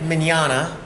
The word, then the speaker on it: Mignogna: My name is Vic Mignogna. That's Italian, like lasagna, bologna, filet mignon. It's spelled pretty weird, but that's what it sounds like.